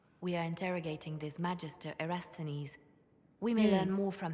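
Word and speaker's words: Erastenes: We are interrogating this Magister Erasthenes. We may learn more from him. That's how you pronounce it, Erasthenes.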